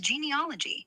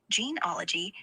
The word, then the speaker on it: genealogy: It's genealogy from Greek genos for race and logos for study. Geneology sounds like a bad sci-fi flick. No ETH there.